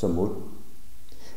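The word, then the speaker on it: สมมติ: The Thai Ajahns talk about this a lot with reference to a Pali term samati, although in Thai it's pronounced samut.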